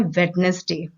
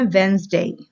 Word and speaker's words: Wednesday: तो व्यूअर्स, इसको हम इंडियंस ज्यादातर बोलते हैं वेडनेसडे, जो कि गलत है।